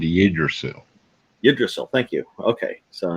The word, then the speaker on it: Yggdrasil: It's spelled Yggdrasil. It's called Yggdrasil.